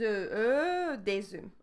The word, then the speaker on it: œufs: So here we have the binding with the Z sound. Des œufs, we have des œufs.